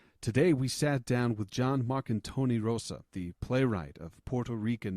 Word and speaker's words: Jon Marcantoni Rosa: Today's guest is John Marcantoni Rosa. Is that correct? Am I saying it right? Yes. Yeah, Awesome. you pronounce it better than most.